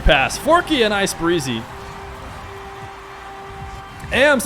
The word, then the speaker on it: ams: AMS, of course, is how you say it.